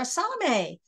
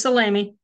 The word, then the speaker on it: Salamy: up we have salomé introduction to rug hooking a one-day Workshop it's Saturday July the 13th hi there pronounced your name wrong salami salami it's salami but that's no big